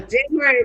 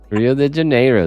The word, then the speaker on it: Rio de Janeiro: January, Rio. Rio de Janeiro. That's how you will say it. If people ask you, where are you? You say, I'm in Rio de Janeiro. That's how they say it. No January, Rio. Not January. They don't understand that.